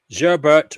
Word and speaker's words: Gerbert: Gerbert rhymes with sherbert.